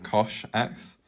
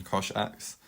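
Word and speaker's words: cosh: the graph becomes exponential and that's the same case for Kosh X and there isn't really another pronunciation of that I think everyone agrees on Kosh X and it's defined as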